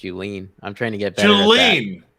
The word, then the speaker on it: Julien: a pre-show to clarify my last name is pronounced you lean i'm trying to get